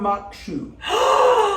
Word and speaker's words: maque choux: today we're gonna make corn mock shoe which is corn and it's m-a-q-u-e and Shima c-h-o-u-x yeah wow like a